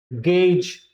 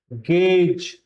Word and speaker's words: gauge: Okay, so the correct pronunciation of this word is gauge, like page, gauge.